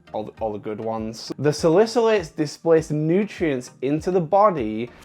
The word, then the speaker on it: salicylates: for the longest time I was calling silica lights so salicylates is a compound that's